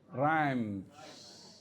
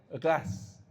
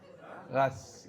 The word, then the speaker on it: Reims: Rhymes. No. Confirm you are not French. So it is to be pronounced as ras. Ras, yeah?